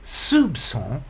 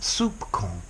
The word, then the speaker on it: soupçon: And this tells you that the C should be pronounced as an S. So it's soupçon, not soupcon.